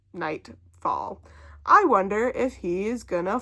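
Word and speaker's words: Nytefall: I just looked at the Goodreads, and the series is called the Nightfall series, and it's spelled N-Y-T-E fall. Nightfall.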